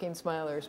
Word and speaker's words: Smilers: pronounce the album title I just call it smilers smilin I mean originally it's smilers but it's supposed to be kind of cartoony so it doesn't really matter and the cartoon who